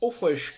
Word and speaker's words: Auchroisk: pour arte kaskelot froid sq alors attention a prononcé au frêche cas optent c'est du gaélique voici donc c'est